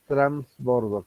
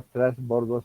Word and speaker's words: trasbordo: las facilidades del transbordo ya no se dice transbordo con n se dice ahora trasbordos algunos de a la